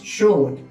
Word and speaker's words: should: Okay, should, you pronounce should, shouldn't.